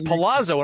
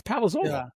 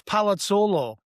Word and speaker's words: Palazzolo: I thought it was Palazzo and I'm like, wait a minute, it's not Palazzo, it's Palazzolo. There you go. If you're Italian and you're pronouncing it with the true Sicilian accent, it's Palazzolo.